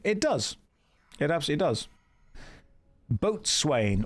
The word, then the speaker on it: boatswain: Boatswain or bosun, depending on how you want to pronounce it.